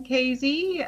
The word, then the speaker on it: Casey: My name is Casey, rhymes with crazy.